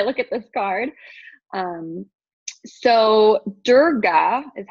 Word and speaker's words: Durga: power when I look at this card so Durga is how it's pronounced um she's really all about creating boundaries